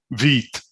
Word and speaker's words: Vite: French word for the part that says French word for fast pronounced Vite is straight from the Vite docs.